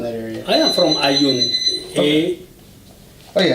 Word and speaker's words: Ayoun: I am from Ayoun. Okay. Oh yeah, how do you spell that?